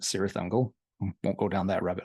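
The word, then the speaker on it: Cirith Ungol: quite a bit is California's curious uncle or is they pronounce it serious angle won't go down that rabbit hole tonight serious Uncle their catalog is relatively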